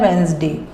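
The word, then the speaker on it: Wednesday: Salesman, next week, अगले हफ्ते, next week अगले हफ्ते, वेनसडे, वेनसडे को इसमें डी साइलेंट होता है, वेनसडे में डी साइलेंट है और इसका प्रोनाउंसिएशन है वेंसडे।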